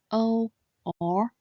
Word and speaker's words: ou: So, when pronounced quickly, this compound final should sound similar to the expression oh, oh, oh.